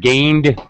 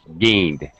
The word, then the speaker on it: gained: I hope you haven't gained weight N is a voice was sound so we go straight to the D sound no extra syllable gained gained G wait okay